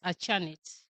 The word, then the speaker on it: Achanit: Most of the time, people pronounce it wrongly, but it's Achanit.